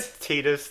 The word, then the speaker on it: Tidus: You say it, Now- you say Titus the wrong way. I've said Tidus like my entire life, and I thought I was wrong, but Jess has informed me that's actually how it's pronounced.